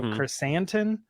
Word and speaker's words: Krrsantan: a little an instead of an on, so Krrsantan.